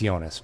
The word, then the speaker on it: Jonas: It has a J, so I'm pronouncing the J. But yes, Yeah. you're probably right. It's Jonas.